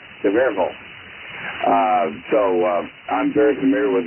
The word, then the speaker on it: Sevierville: I grew up in an area between Knoxville and Sevierville, and Sevierville, as they say it there, the word "ville" changes pronunciation in East Tennessee. It becomes "vol." Sevierville.